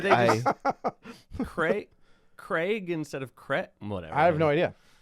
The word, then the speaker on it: Craig: It does not rhyme with egg. Oh, Daniel Craig?